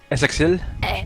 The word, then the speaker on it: Essexite: Essexil or Essexit? Essexit. We'll call him Sexit.